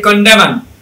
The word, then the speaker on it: condemn: এই যে কন্ডেমন, কন্ডেম মানে কাউকে তিরস্কার করা, বৎসনা করা, গালিগালাজ করা, হ্যাঁ এটাকে বলে কন্ডেম। CONDEM, এনটা নাই, এনটা সাইলেন্ট হয়ে যায়।